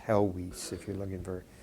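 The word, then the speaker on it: Helwys: of uh um Thomas hwis this name is pronounced helis if you're looking for pronunciation but Smith and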